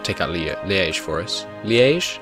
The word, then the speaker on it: Liège: Liège, I believe it's pronounced. I'm not sure.